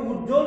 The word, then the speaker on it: উজ্জ্বল: এভাবে উজ্জ্বল শব্দের জয় যোগ জ যোগ ব ফলা, তাহলে এই ব ফলার উচ্চারণ এখানে হবে না। কারণ কেন? সূত্র বলছে যে যুক্ত ব্যঞ্জনের সঙ্গে, এখানে ব্যঞ্জন বর্গীয়জের সাথে ব ফলা এসেছে, সুতরাং এর উচ্চারণ আমাদের করতে হবে না।